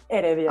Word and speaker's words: Heredia: Did I say it's Heredia? Heredia. Just don't think in the age. Heredia.